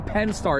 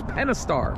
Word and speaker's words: Pentastar: I always say Pentastar. It's Pentastar. Pentastar.